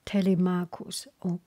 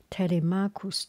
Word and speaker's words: Telemachus: As they were eating, Telemachus, just so that easy for you to remember, Tele, T-E-L-E, Marcus, M-A-C-H-U-S, C-H pronounced K. Telemachus told them about his journey to Sparta, about his encounter with red-haired Menelaus.